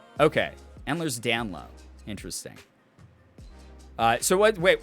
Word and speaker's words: Ehlers-Danlos: it's pronounced oh pronounced endlers dan lo okay endler's down low interesting uh so what wait why the s at the end is silent that's and wait the